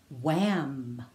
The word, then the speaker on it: wham: Now WH sounds like W, like wah, and the H is silent. Echo these words after me. Wham.